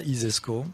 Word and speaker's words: ISESCO: si vous considérez que ça isesco comme ça se prononce ainsi laisse donc si vous